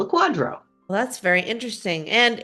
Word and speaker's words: QDRO: I wanted to talk to you today about quadros, and I'm going to let you explain how that is spelled and what it is.